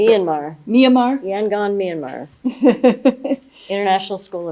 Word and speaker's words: Myanmar: So at that point, regretfully, we will miss you, but we wish you well in Myanmar, how do you pronounce it? Myanmar.